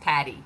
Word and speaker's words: PADI: And Bill is asking, that is spelled PADI, correct? Yes, Patty. Yes.